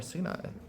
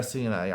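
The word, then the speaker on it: סיני: Everyone pronounces it Sinai, but who says you pronounce it Sinai? There's no vowels here in the Gemara. Sini. Sini. I know in the Torah it's pronounced Sinai, but again, the Torah also doesn't have vowels.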